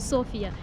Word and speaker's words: София: Я прилетела в Софию, болгары произносят СОфия, и сейчас буду гулять